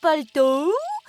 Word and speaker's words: Пальту: Нашият приятел Мусю Пальту с ударение на последното У днес има рожден ден и така сме се събрали насред.